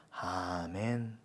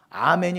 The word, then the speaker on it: 아멘: 돼 이게 진짜 아멘이에요 아멘이 원래 아만해서 온 거잖아요 히브리어 암환의 헬라식 발음이 아멘이에요 아멘 하실 거면 이것도